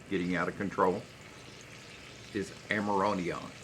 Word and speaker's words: amiodarone: out of control is amiodarone. Amiodarone. That's how they pronounce it.